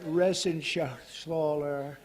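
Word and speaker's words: Reschenthaler: You know that Resenshathaler. That's actually the way you pronounce it, you know.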